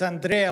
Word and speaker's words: Andrea: It's Andrea like Bochelli, but please don't ask me to sing.